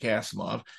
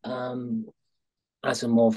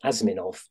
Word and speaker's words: Asimov: I came across Asimov when I was a child. I remember I couldn't even pronounce his name. It was Asiminov, my childish tongue.